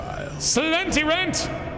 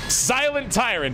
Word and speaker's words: Silent Tyrant: anyway Hugh seems good cilenti rent nope silent tyrant is how you say that one I keep reading in